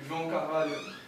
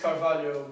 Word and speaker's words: Carvalho: nice to meet you caral caral excuse me but how do you pronounce that again no it's not a problem I get that frequently it's carvalo but feel free to call me carvalo please have a seat